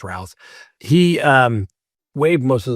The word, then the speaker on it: Routh: Well, Mr. Routh, Rouse, however you pronounce it, guess what? I think it's Rouse.